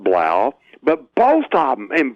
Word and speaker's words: Blough: is Bell Biello ugh which could be pronounced I'm gonna say Blau it could be blah or Bluff I call it blah but both of them